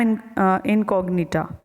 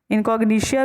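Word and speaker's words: incognita: ठीक है, इनकॉग्निशिया भी इसे वैसे प्रोनाउंस करते हैं, मेलिडोगाइन इनकॉग्निशिया ऐसे भी बोल सकते हैं।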